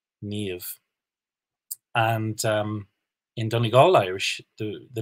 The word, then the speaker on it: Niamh: And some words just get really famous, like the names Siobhan and Niamh. They have BH, MH, they sound like V.